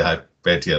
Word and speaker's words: Hypatia: typically heard hypatia so i'm going to say hi petya because i think that's more accurate we accept